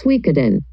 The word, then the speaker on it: Suikoden: About the title, the pronunciation in Chinese is Shuiyuzhang, and in Japanese, the pronunciation is Suikoden.